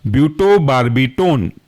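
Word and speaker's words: butobarbitone: दो महत्त्वपूर्ण एग्जांपल में से पहला है आपका ब्यूटो बार्बी tone ब्यूटो बी यू टी ओ और बार्बी टोन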